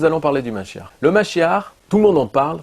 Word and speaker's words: Mashiach: Donc comme vous avez vu, donc il parle du Messie, Mashiach, qui se termine avec H et prononce ça comme avec un R à la fin.